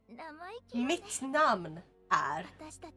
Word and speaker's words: mitt namn är: Oh, it's mitt. Yeah, mitt. And then it's namn, which is spelled like... So it would be... Mitt namn är over.